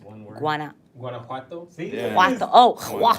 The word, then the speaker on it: Guanajuato: Guanajuato.